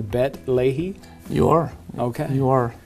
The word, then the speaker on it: Beit Lehi: Bet Lehi? You are. Okay. You are. Some people say Lehi instead of Lehi, but in Israel they'll say Bet Lehi.